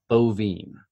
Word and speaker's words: Boivin: your last name so last name is pronounced ovum what I am Who